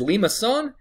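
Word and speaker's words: limaçon: a word a lot and that word is Lima son this is how you spell it it's Etsy is a little got a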